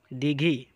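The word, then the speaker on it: দীঘি: Dighi. That means lake. You have to press the sound Dirghaikar when you are pronouncing the sound D.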